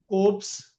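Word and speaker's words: Kolbe: K O L B E L L is silent. Oops synthesis ores reaction.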